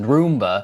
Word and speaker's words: Roomba: Second of all, it's pronounced Roomba.